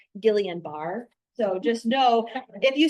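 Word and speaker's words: Guillain-Barré: I I don't speak French very well, but it is a French like it's after a French I think physician. And so Gillan Beret is how you say this is, you know, if if you're close, people will know.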